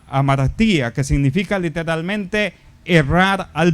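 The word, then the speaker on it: ἁμαρτία: La mejor palabra que podríamos usar es, para comprender lo que significa el pecado, es la palabra griega que se pronuncia amartía, que significa literalmente errar al blanco.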